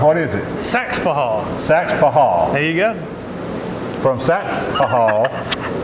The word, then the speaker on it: Saxapahaw: Saxapahaw. And down east, we never put an extra syllable in there. I know, that's cool. Saxapahaw. No, it's that Saxapahaw. That's what the old school cats say.